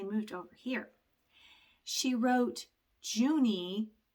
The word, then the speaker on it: Juni: over here she wrote Juni I'm pronouncing that I guess the way that it is in German which means the month of June and the year was 1932.